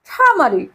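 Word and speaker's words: turmeric: মত উচ্চারণ হয় ঠ আর এখানে আর এর উচ্চারণ হবে না তাই আমরা বলবো ঠামারি ঠামারি অর্থ হলুদ ওকে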